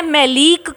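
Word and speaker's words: maleic: तो आप मैलीक और मैलिक में कंफ्यूज ना हुए, मैलीक और मैलिक दोनों अलग वर्ड्स हैं और ये फॉर्मूले आपको याद होने चाहिए।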